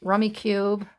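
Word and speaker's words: Rummikub: some nights we'll play rummy cube or rummy cub some people pronounce it robbie rummy cub we try to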